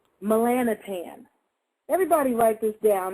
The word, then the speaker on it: Melanotan: pineals because there's a thing out now called melanotan everybody write this down it's spelled m e l a n o t n melanotan melanotan but it's pronounced melan tan it's also called liquid sun and some other